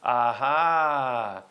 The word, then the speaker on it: AH: your right that's why the sign when you pronounce it in Dutch is aha One union guy in